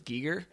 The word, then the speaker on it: Giger: black star documentary I found out his real pronunciation was Giger yeah isn't that annoying I hate that I'm calling him gerer I don't know that's